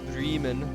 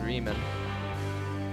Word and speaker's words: Bremen: Or Bremen, I think is how they pronounce it, Bremen.